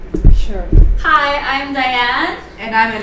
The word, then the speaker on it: Jaishrre: Jaishrre.